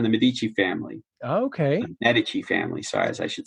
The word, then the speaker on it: Medici: The Medici family, sorry, as I should say it properly.